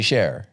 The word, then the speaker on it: Cher: It's not short for something. It's actually share.